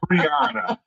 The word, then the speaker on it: Brian: My name is Brian, And she is Brian. but it's pronounced Brianna.